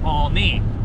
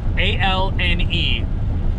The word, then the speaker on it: Olney: last name, he'd say, remember, it's all knee and no foot.